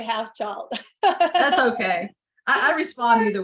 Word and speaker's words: Hauschild: I say house child.